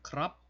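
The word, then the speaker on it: ครับ: 얘는 무조건 삼성으로 발음을 합니다. 그래서 끝을 약간 이제는 올리는 그런 느낌으로 해야 된다는 얘기죠.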